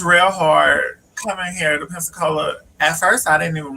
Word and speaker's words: Pensacola: was like you from pepsico baby it's called pensacola it's pronounced pen p-e-n and then it was